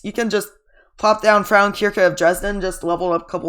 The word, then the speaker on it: Frauenkirche: Frauenkirche, that's how it's pronounced, if you're wondering.